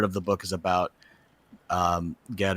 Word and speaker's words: Ged: the book is about Ged or Jed, depending on how you want to pronounce it. I always thought it was Ged. Do people say Jed? I'd sometimes say Jed. I don't remember why. But I also, with the, you can read it with the hard G.